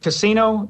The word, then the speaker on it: Cascino: Is it Cascino? Is that how it's pronounced? Yes, sir, like Vegas.